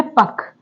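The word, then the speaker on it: puck: है ऐसे ही अगला वर्ड है पक पक में भी यहां पे सी साइलेंट है नेक्स्ट वर्ड है सीन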